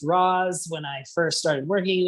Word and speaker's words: ROS: and this is to raz or not to ross that is the question so let's talk about ross uh what is rocks so roz stands for robot operating system um and again it's pronounced raws when i first started working with it i